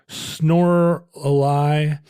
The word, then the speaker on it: Snorlax: Or are there Snorlaxes, rhymes with Lorelei.